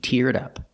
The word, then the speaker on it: teared up: She teared up. Link the sounds. She teared up.